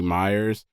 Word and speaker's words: Meyers: I wasn't Before I wasn't sure if like I was pronouncing it right, but it's clearly Myers. But, they had m y e r s and m e y e r s, but same same thing.